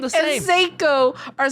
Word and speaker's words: Seiko: i was like oh seiko i don't know if that's how you pronounce it seiko but it's not psycho surely sure whatever i